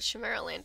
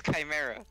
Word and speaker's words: Chimera: i'm i've been i've been pronouncing this wrong this whole time i'm going to call it shimara land throughout this entire stream i'm telling you it is chimera i know i mean